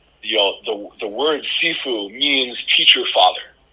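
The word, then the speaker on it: 师父: know the the word sefue means teacher father so if I say it correctly in Mandarin it would sound like sheu teacher father so there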